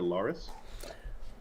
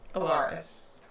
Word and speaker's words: Alaris: Is it Laris? Alaris. Okay. Alaris?